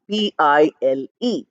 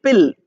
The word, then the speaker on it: pile: p i l e but you're writing I and you're not pronouncing it e you're not saying pill pill is p i l l that means a tablet but pile is it has an e at an end which is not pronounced